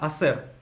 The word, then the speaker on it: hacer: Он говорит «que voy a hacer», а «hacer» пишется как «ха-сер». И «ха» не читается, и получается «que voy a hacer».